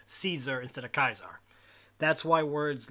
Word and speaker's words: Caesar: the message ignorant Kaiser's kaiser is the actual old Latin pronunciation of Caesar when English became the